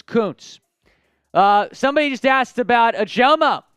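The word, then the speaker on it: Kuntz: Koontz nope Zach Koontz it looks like a different pronunciation but it's Koontz uh somebody just asked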